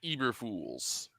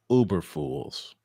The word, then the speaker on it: Eberflus: Matt Eberflus. Uberfools.